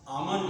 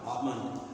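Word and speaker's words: almond: many व स जैसे आमंड होता आमंड आवला होता आमन ये ल उच्चारण नहीं होता आमंड होता है आमन और जैसे आम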